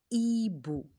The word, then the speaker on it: hibou: la lettre H c'est un hibou regardez bien l'animal comment on l'appelle hibou et